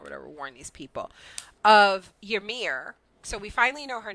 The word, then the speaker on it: Ymir: Then I said in the show, and I'm like, all right, Emir, because I know there's like another name, like the name Yvonne, but it's spelled Yvonne.